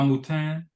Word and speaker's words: Moutin: that you had with if I get the name wrong, excuse me, but Francois Moutin.